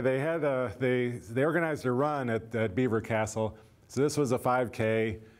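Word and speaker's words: Belvoir Castle: Close to the manor, there was another great house, a castle called Beaver Castle. It's not spelled like beaver, but call it Beaver Castle.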